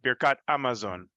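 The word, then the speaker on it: Birkat Hamazon: So the Sephardim, specifically Ladino speaking, when it comes to the He Hayediyah before Hamotzi, they would never pronounce the He. It would be Amotzi or Amosi. Same with Birkat Amazon, which is particularly funny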